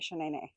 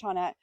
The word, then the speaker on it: Shaunette: You can call me Shane Net. My name is Shaunette, but if I call your name wrong, you can call me Shane.